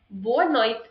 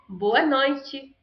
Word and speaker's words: boa noite: One is boa noite and the other one is boa noite.